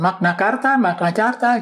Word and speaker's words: Magna Carta: Bagaimana bacanya? Magna Carta gitu ya.